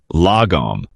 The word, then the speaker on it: lagom: The Swedish have a word for it, lagom. Pronounced l a h g o m.